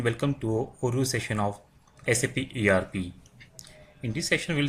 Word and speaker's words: SAP: It is pronounced as individual letters SAP.